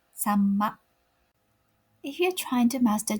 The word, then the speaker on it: さんま: So instead of pronouncing this word as sa-ma, try pronouncing like samma.